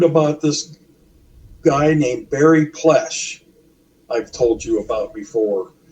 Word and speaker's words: Plesce: Nick's film, um, and somehow I learned about this guy named Barry Plesh. I've told you about before. Yeah. Plesce is how his last name is spelled.